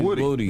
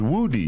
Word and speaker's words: Woody: It's not Woody. It's Woody.